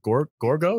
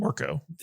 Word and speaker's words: Orko: I thought Evelyn and Gorgo, is that his name? Orko. Hey, Orko. Kadish, you're saying her name wrong, man.